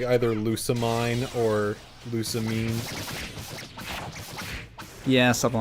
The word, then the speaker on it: Lusamine: I'm gonna say Lusamine heard- because that's how Japanese would probably say That's it. how they would say it.